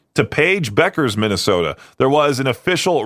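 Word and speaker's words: Paige Bueckers: I forgot how you say her name. Is it Paige? Oh, just Paige Beckers. That's how you say it.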